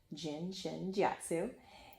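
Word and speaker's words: Jin Shin Jyutsu: That's how you say it, Jin Shin Jiatsu, and offered for me to show up to her home to join a class.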